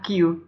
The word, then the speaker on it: queue: Dan mohon maaf juga seperti pengucapan Kyun, itu seharusnya yang benar adalah Q, bukan Kyun.